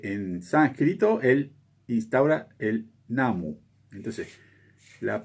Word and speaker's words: Namu: Entonces, lo que instaura Nichiren es la recitación de myoho renge kyo, antecedido por Namu, que la U se pronuncia casi aspirada, digamos, Namu, Namu, o sea, casi no se pronuncia y en algunos lugares de Japón es muda, digamos.